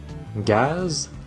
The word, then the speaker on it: gaz: chez n'y répondez appelé mais il ya des exceptions gaz jazz coiffe prononcé comme est